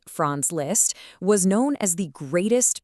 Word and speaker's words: Franz Liszt: Franz Liszt, pronounced Franz Liszt, was known as the greatest piano virtuoso of his time.